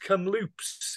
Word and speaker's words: Kamloops: You're in This is is it pronounced Kamloops in British Columbia?